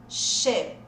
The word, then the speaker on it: sheep: Essa aqui, ó, com um I só, som de E. Já falou ela aí? Vou falar pra você, só conferir. Sheep.